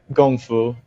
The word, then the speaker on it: gongfu: your website um about do you call it gong foo brewing is that the way you would pronounce that yeah gongfu yeah yeah um so tell us a bit